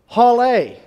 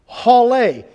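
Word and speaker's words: הלל: for praise is pronounced Haleh Haleh interestingly enough it sounds just like our word hallelujah hallelujah it's praise that's what hallelujah means we're praising God so Haleh in Hebrew like hallelujah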